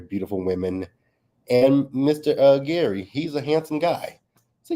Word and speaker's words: Gary: with um Mr Gary which is name is spelled g r r y I thought it was Jerry to begin with but hey it's Gary so we got introduced